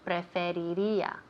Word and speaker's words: Preferiría: Uy, this is a very hard word to say in Spanish. Preferiría. It's very hard. Yes, it is. A lot of R's.